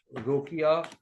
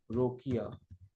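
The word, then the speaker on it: Rokeya: ये एक मुस्लिम रोकिया हुसैन, रोकिया, रोकाया, रोकाया होगा ना प्रोनाउंसिएशन, रोकाया सखावत हुसैन ने ये लिखा था।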